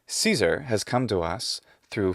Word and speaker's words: Caesar: such as cicero and caesar and then i'll have to read in the comments something like this if you really wanted to use the classical pronunciation you would say kikero and kaisa this drives me a